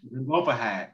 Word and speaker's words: Zelophehad: I don't want to say his name wrong. Look at that name. And the name was Zelophehad. Yes, Zelophehad.